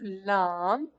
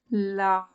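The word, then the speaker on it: لام: front part of the tip of the tongue touches the premolars that's adjacent to teeth and the incisors per side. Lam, lam, premolars and the two adjacent teeth and the incisors.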